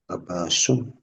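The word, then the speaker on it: عباسٌ: Is it Abbasun or Abbasu? Abbasun. Abbasun. Abbasun.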